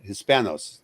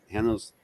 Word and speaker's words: hispanos: libertarians uh is on hispanos hanno's rhymes with thanos libertarios hispanos is on